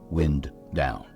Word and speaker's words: Windown: locally as wind down wind down with wind pronounced like the moving air and not like the action of winding string or thread around something is primarily brick ground